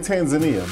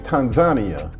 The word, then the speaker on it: Tanzania: I was used to saying Tanzania, but the locals let me know that the right pronunciation is Tanzania.